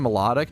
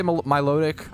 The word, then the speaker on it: Milotic: Melodic? Some people say Milotic. I used to say Milotic, but I think I switched to Melodic. Milotic, Melodic. I've heard both.